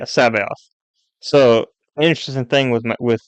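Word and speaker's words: C'baoth: it with a C I hate English so Sao is spelled c apostrophe b a o t h i don't understand so yeah Sab off so interesting thing with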